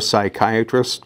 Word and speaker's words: psychiatrist: you can't hear a psychiatrist go to the bathroom no bob i don't well the p is silent you